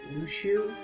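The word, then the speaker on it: Luxu: A page is missing, and they're trying to find the traitor, showing us the Master of Mashers, and I know his name is pronounced Lushu, but can we just call him Alexu?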